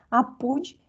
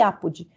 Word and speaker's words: apud: desses dois jeitos aqui essa pronúncia latina a pudim e apodi pode qualquer maneira ela significa citação de